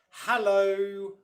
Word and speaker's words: hello: to you hello obviously the first syllable their hair is the one that stressed hallo hallo hallo can you